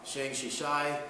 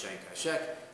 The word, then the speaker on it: Chiang Kai-shek: The Chinese leader, Chiang Kai-shek, sometimes pronounced Chiang Kai-shek, appealed to the League of Nations for help.